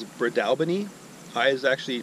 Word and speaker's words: Breadalbane: pronounced it terribly wrong the actual way to pronounce it is Brad Albany I is actually pronouncing it Friedel Bain during the video so